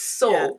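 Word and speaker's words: Salle: So they're living in a village in Norfolk called Saul, pronounced Saul, spelt S-A-L-L-E.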